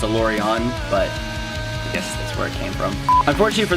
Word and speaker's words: Alourion: part of that word and it's not it's pronounced a lorry on but yes from unfortunate for this van we